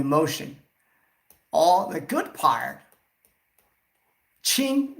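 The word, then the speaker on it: 情: All the good part, qing, this is pronounced as qing, the emotion.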